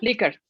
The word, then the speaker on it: Likert: Y bueno, tenemos otras escalas como la escala de Likert, ¿sí se pronuncia así, doctora? Likert. Likert, perdón.